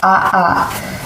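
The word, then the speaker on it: ʻaʻā: their names from Hawaiian words i lava is pronounced aha it is thick jagged and fast-moving it Carrie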